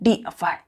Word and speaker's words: deify: डिफाई। आपको pronounce करना है, डिफाई, DEIFY।